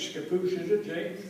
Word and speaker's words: Scappoose: I guess it's Scappoose, is it, Jay? Scappoose.